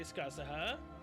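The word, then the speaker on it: Scáthach: This is exactly what Skaha and El Malloy mentioned. Wow, actually said it how everyone else says her name. There was some who say Skasaha, and I didn't really pronounce it entirely right, but yeah.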